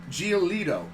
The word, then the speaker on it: Giolito: How do you pronounce his last name? Giolito.